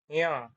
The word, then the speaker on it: ञ: इसका उच्चारण होगा नासिका के साथ में। जैसे इसे पढ़ेंगे। इसको पढ़ेंगे हम य और ये वाले को पढ़ेंगे ञ। हाथ रख के आप भी रखो नासिका पे हाथ।